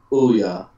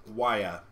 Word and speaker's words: Ouya: I said, Ouya, not we. That was called Waya, not Ouya. By you. By O-U-Y-A was pronounced Waya. O-U makes a W sound.